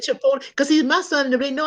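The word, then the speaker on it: chipotle: a't that look that's you said that's believable chipot did I say it wrong y'all no you said it right you did fine they said chipot cuz see my son know I don't like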